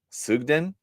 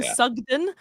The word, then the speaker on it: Sugden: my second name uh sugden nah that's that's a little bit it's a bit um sugden but I get I get people pronounce it like fudge so I get suon